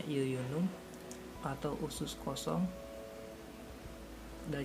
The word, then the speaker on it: jejunum: namanya Iya Yuyun uh menurutnya jejunum tapi dibacanya Yuyun Um atau usus kosong Ya